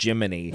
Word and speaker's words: Gemini: Cricket by calling him writing it as Gemini yes like a computer AI voice thing would be but it's still just pronounced Jiminy yep and everyone's like